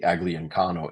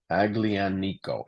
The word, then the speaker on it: Aglianico: actually the main grape the agliancano is the is the ugly I've always pronounced This Wrong aglian Nico agli and Nico grape is the the